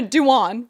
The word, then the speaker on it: Dewan: then she found out later that Jenna Doom was lesbian and then last but not least in that one sentence she mispronounces Jenna Dewan which JoJo literally just